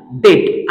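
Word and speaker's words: debt: example घेतलेला आहे डेट आता डेट हा शब्द वाचन करत असताना यातला बी हा जो लेटर आहे हा सायलेंट होताना दिसत आहे आपल्याला लक्षात घ्या तर आपल्याला वाचन करताना अस करायच आहे डेट ओके तर याचा उच्चार डेप्ट असा करायचा नाहीये पुढच जे एक्झाम्पल आहे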